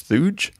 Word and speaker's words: Thuge: Thanks, Thuge. Hope I'm pronouncing that right. Rhymes with Scrooge, so it's Christmassy.